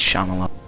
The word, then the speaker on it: Shyamalan: It's Shyamalan. Shyamalan. Fuck you. I don't like pronunciation.